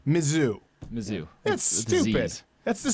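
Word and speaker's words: Mizzou: never get it right how do I pronounce it Andrew claven it's mizou they call mizou mizou that's stupid that's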